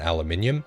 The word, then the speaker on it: aluminium: resources like rubber and aluminium. That is how you pronounce it.